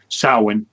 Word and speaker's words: Samhain: is what Halloween is Samhain soin better pronounced that way and this is exactly